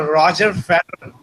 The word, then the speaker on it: Roger Federer: It's a Roger Federer. It's the correct way of pronouncing it.